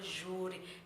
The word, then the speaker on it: júri: Aqui eu tenho minha última sílaba, que não é a tônica, então a tônica é a penúltima, por isso que ela é uma paroxítona.